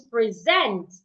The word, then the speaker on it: present: It becomes present. It's different from present. Present. For present, you're stressing the first part. Present, you're stressing the second part.